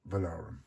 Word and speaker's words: Valaurum: But let's go over now to the World Money Fair and an interview with Valaurum. Hi, so we're here at, how do you pronounce it?